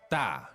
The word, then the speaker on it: 大: And to say big, it is 大。大 fourth tone. Okay, da, right?